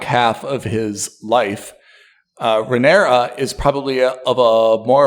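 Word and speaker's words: Rhaenyra: yeah he could at least keep everything together renera which I'm finally pronouncing correctly thank you is probably the most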